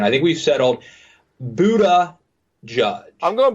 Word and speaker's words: Buttigieg: to settle on the DMZ style guide for pronunciation. I think we've settled Buddha Judge. I'm going Buddha Judge. Buddha Judge.